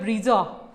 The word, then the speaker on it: ब्रेजा: जैसे कि ब्रीजा नहीं होती, ब्रेजा होती है, बलीनो नहीं होती, बलेनो होती है।